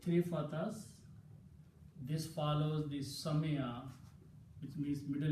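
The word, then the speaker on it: سمع: Because when you say Sami Allahu liman hamida, you pronounce Sami'a, not Sama'a.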